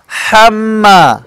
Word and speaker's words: حمالة: حمالة الحطب حمالة الحطب অনেক এখানে বলে অমরাতুহু হাম্মালাতাল হাতাব বলে না এটা ভুল হাম্মা এখানে হাম্মা বড় হা হয়েছে কি হবে হাম্মা ভিতর থেকে উচ্চারণটা আসবে অনেকেই বলে হাম্মা হাম্মা বললে হবে হবে না যদি আমি হাম্মা বলি তাহলে আমি ছোট হা পড়তেছি আর এখানে বড় হা এসেছে এজন্য হবে হাম্মা আমার সামনে সবাই বলেন